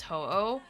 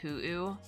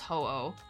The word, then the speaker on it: Ho-Oh: I find it funny how in English it's pronounced Ho-Oh. Okay, how was it pronounced like otherwise? Is it Hu-Oh? Or Hu-Oh or something? It's just pronounced Ho-Oh.